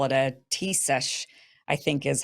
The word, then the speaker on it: Taoiseach: They call it a Taoiseach, I think is how you say it.